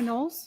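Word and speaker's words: Knowles: My name is Nolles. My last name is spelled K N O W L E S. Like Beyonce or whatever.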